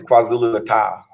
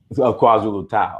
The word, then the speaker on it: KwaZulu-Natal: Well, first of all, it's KwaZulu-Natal. KwaZulu-Natal. I'm sorry. My bad. Yeah, you're saying it wrong.